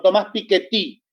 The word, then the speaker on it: Piketty: repensando algunas cuestiones de thomas piketty o thomas piketty como se pronunciaría en francés el libro el libro